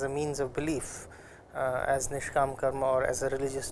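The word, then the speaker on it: Nishkāma: The dot below S makes it a sh, and the line above A makes it a longer pronunciation of A, of A as A. So, it is called Nishkam karma.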